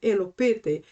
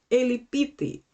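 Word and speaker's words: ἐλυπήθη: This word elopete, and by the way, here we have two pronunciations. I am using the old pronunciation, which is elopete, but the modern pronunciation for this word is elipite.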